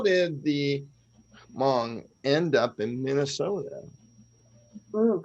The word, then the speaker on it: Hmong: So the H is absolutely silent. Okay. Gotcha. All right. So how did the Hmong end up in Minnesota?